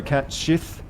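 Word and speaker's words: Cait Sith: to say his name some people said it's pronounced like cat almost or cat schiff i've always pronounced it kate sith and kitty considering how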